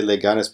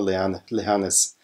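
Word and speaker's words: Leganés: I mean, oh, the German English, I wanna say Leganes, but I think it's more Leganes. Leganes, I think, is how you pronounce it.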